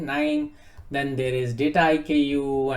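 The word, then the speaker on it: KNIME: So pronounced with a K, but K is silent. Nime, Then there is data IKU and data robot.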